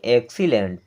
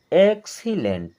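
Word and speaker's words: excellent: एल ई एन टी इसे पढ़ते हैं एक्सीलेंट क्या पढ़ेंगे एक्सीलेंट अभी तक आपने देखा कि हर बार अगर एक्स बाद में आ रहा है तो उसका उच्चारण क सा की तरह होता है कई बार हम उसका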